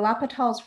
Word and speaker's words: L'Hopital: look at examples so lapital's rule first of all i think of this as hospital but it's without that s in there before the p that helped me remind me of how to say his name and also